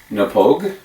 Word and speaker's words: Knappogue: to start off by telling you that it's pronounced nepogue there it is in the Pogue castle and